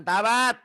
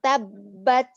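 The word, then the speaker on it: تبّت: sih mana ya bab Salah bacanya bukan tabat tabat b nya dua nyamber aduh aduh kita berangkat seks nah tabbat Yada Abi lahabiw watab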